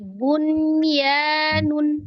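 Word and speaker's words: بنيان: Nah, 3 yang lainnya seperti bunyanun. Nah, itu kan nunnya juga dibaca izhar.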